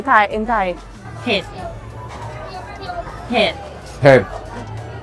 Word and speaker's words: เผ็ด: เผ็ดเผ็ด Head.